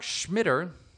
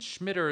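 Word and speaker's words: Schmidter: And Schmitter is spelled S-C-H-M-I-D-T-E-R.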